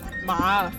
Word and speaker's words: 尛: 三个小，我不知道怎么念。麻，你叫麻。